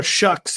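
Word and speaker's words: Shough: But what did and did not change in Tyler Shucks, even though it's spelled Show's debut under center?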